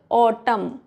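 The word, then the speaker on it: autumn: नहीं पढ़ेंगे साम साम नेक्स्ट रूल है एन is silent after M एट द एंड of some word. M के बाद अगर एन है तो एन साइलेंट होगा। फॉर एग्जांपल ऑटम एम के बाद है तो एन साइलेंट हो जाएगा।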